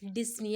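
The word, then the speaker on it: dyspnea: आएगा कफ ओके और डिसन मतलब डिफिकल्ट इन ब्रीदिंग इसका सही प्रोनंसिएशन जो होता है वो डिसन होता है ठीक है पीस साइलेंट रहता है इसमें एंड फीलिंग वेरी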